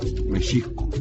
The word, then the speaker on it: México: de su patria, México, vocablo originalmente de pronunciación grave y saltillo después de la segunda sílaba, Mexico.